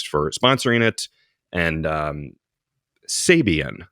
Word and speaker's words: Sabian: sponsoring it and um Sabian that's how you pronounce it it's Sabian guys yeah and Andy zilan